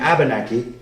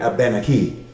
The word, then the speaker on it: Abenaki: Here, for some reason, the W disappeared and it became Abenaki. And in Quebec, and where French speaking was more common than English speaking, they put an accent on a different part. They made it Abenaki.